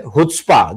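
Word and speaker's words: חוצפה: सर मैं दर्शकों के लिए बता दूं कि एक ह्यूब भाषा का एक शब्द है हु्सपा जिसको कि इसकी स्पेलिंग चुस्पा लिखी जाती है।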